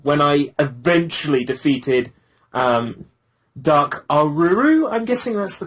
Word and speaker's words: Aruru: Like, I swear, at the end of Yon, when I eventually defeated Dark Aruru, I'm guessing that's the correct pronunciation.